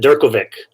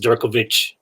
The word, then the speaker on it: Durkovic: pronounce your last name i pronounce it durkovic jerkle vic perfect yeah i don't think that's the original czech pronunciation but that's what we i think it's supposed to be pronounced durkovich or something like that but we do it